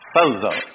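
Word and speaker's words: σῴζω: Sozo. that letter is pronounced like a DZ, sozo.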